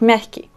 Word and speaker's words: мягкий: Donc, merki. D'accord? L'accent, on met sur la première. Merki, syllabe.